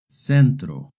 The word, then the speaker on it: centro: Remember, if the C is followed by an E or an I, it makes a soft C sound. Centro.